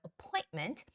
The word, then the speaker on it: appointment: schedule an appointment appointment the stress goes on the oi syllable so appointment please leave your name